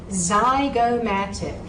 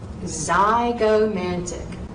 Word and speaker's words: zygomatic: Now, words that begin with a Z sound could be spelled with an X or a Z. And don't be surprised if you see some test questions down the road where I might have a word spelled incorrectly with a Z when it should be an X. So, zygomatic, zygomatic.